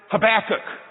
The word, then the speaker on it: Habakkuk: I could say it have a cook some people pronounce it habakkuk but when I was a kid I could never say habakkuk and so my mom says it's like have a cookie oh I could say